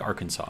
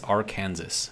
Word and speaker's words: Arkansas: But you know how, like, let's say, take Arkansas, right? If you look at the way that it's spelled, it's Arkansas, right? But it's Arkansas, which is just, it doesn't make sense with the way that it's spelled.